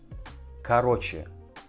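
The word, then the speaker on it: короче: talk about something and this word sounds like karoche carroce do you need to remember that first letter or we pronounce like a Karo Karo karoche first of all you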